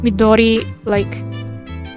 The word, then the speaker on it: Midori: Somehow I pronounced Midori like I'm actually trying to speak it in Japanese.